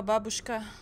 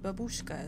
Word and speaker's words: babushka: um another picture of a babushka that's how you pronounce it not babushka as some say i can speak some